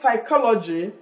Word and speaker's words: psychology: empty or mpg then in west psychology P is silent because the right thing to say is what psychology not P psychology then in the word